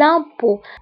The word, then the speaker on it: impôts: Les impôts. هنا أوكي نكتبوها بأكسان سيركونفليكس و ت لا تنطق.